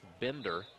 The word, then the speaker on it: Binder: It is Bender, not Binder. Okay, B-I-N-D-E-R.